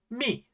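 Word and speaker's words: ミ: First, let's learn mi.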